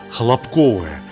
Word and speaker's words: хлопковое: В прежние времена, когда готовили преимущественно на хлопковом масле, это слово «хлопковое» мы произносили именно с таким ударением.